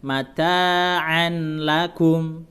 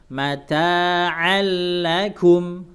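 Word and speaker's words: متاعا لكم: Mata harusnya bacanya kan mata'an lakum, tapi karena dia harus idgham. Jadi tanwinnya langsung diidghamkan ke lam, tapi tidak boleh digunakan. Mata'allakum langsung masuk ke lam.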